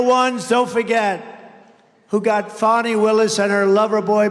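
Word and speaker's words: Fani: have to pronounce it fonnie it's called Fanny you have to pronounce fny I don't know how she go she should add a little you in there someplace if she wants people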